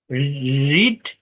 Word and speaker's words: read: late late late put পুট put quite quite quite রিড রেড রেড দেখেন এইখানে মানে এটার স্পেলিং একই হলেও এর উচ্চারণটা একটু ভিন্ন এজন্য ব্রাকেটে আবার লিখে